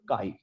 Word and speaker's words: chi: अब mole fraction के लिए एक स्पेशल सिंबल भी होता है, दैट इज कॉल्ड काई, CHI। ये काई जो है उसको प्रोनाउंस करने के लिए हम वर्ड यूज करते हैं, और इसको जो डिनोट करते हैं इट्स अ लैटिन लेटर।